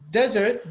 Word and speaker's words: desert: difference in pronunciation is desert the stress is in the beginning but desert the stress